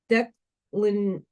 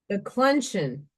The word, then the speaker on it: declension: go away from him, which is declinesian. That's going to bother me, which can lead to entire destruction. Hang on, I'm going to find out how to pronounce that word. Declension. Not how it's spelt.